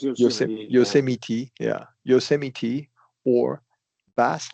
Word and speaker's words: Yosemite: It's pronounced Yosemite.